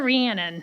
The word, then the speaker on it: Rhiannon: practicing it it's Dr ranan yes like Shannon with a re Shannon with a r